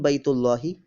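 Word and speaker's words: بيت الله: Ka'batun Baytullahi. Ka'batun Baytu Allahi, or pronounced as Ka'batun Baytullahi.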